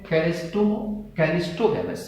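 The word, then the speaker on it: cleistogamous: CH नहीं होता, गलत स्पेलिंग है, कैलिस्टो होता है CLEISTOGA, कैलिस्टोगैमस, ठीक है।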